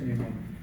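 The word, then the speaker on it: pneumoniae: La especie no está escrito con estptococusero neumonia neumonal se pronuncia neumonia.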